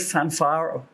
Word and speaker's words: Fanfare: use this this Feelgood Fanfare that's that's was the German pronunciation Fanfare of sport to like